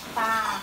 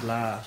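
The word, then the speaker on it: ปลา: Hey, how do you say fish? Pa. Pa. Okay. Pa. I keep saying bla.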